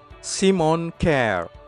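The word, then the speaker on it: Kjær: tapi Simon sementara itu nama keduanya huruf j tidak dibaca jadi penyebutan yang benar adalah Simon care Simon care boleh 1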